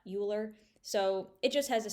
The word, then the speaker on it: Euler: Be careful to pronounce that Euler, not Euler.